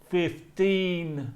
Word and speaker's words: fifteen: vowel sound make sure when you say those numbers the teens that you are smiling if you're not smiling you're not saying it correctly so that's the first